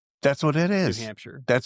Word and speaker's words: New Hampshire: So now you say that you're from New Hampshire which is how Texans say that. Yeah. But when I'm in New Hampshire, they say it like it's one word.